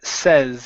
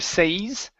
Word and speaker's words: says: here is the word says instead of says okay give me a short e says haml says haml MH